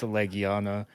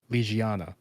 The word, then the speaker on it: Legiana: I didn't know it was pronounced Legiana, and I actually went with a completely different pronunciation for that name that I a see. friend had taught me, which was, get ready for this, Hmm? Legiana, Okay.